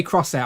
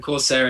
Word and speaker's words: Corsair: Yeah, I do say crosshair. I'm not gonna lie. I say crosshair, even though I'm aware I'm saying it wrong. But it's just that's how I say it.